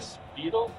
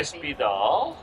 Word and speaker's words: Spidahl: Well, we're going to end, and what we're going to say is Spidahl. Spidahl. I did pronounce it correct. Spidahl.